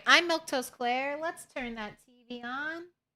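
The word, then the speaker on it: Milquetoast Claire: I'm Milktoast Claire. Let's turn that TV on. That's how you say my name if you were wondering. Milk Toast Claire.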